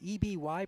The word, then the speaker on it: Eby: Spells her last name E-B-Y, pronounces it Eby.